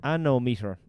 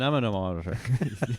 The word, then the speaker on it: anemometer: An anemometer. You have to say it right.